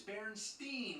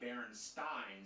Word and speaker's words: Berenstain: Actually, the most likely pronunciation would be Berenstain, since it was spelled the same way like Frankenstein. But everybody I ever met says Berenstain.